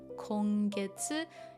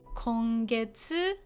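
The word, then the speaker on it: 今月: So kongetsu is this month. Okay. So that's that. I know this one can be pronounced as tsuki.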